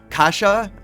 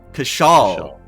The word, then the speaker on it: Kshal: So, Kasha, is that correct? Kshal? Kshal. Oh, Kshal. It's an L, not an I.